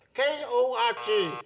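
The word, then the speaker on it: Korg: Starts with K. Rhymes with Fog. K-O-R-G.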